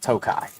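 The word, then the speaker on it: Tokaji: K A J I J's not pronounced tokai.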